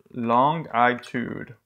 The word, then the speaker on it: longitude: would expect this other field is called the long I tude it's how I know how to spell it but it's pronounced a longitude so now